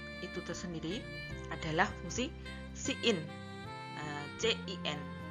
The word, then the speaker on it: cin: Kebalikannya dari fungsi cout itu tersendiri adalah fungsi cin, CIN, dibaca cin.